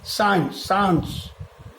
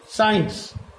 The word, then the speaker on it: science: আবার একই জিনিস সায়েন্স, সায়েন্স, দেখো এখানে কিন্তু সি এর উচ্চারণ SCIENCE, এই SC, এই সি এর উচ্চারণটা কিন্তু হচ্ছে না, হচ্ছে সায়েন্স, সায়েন্স।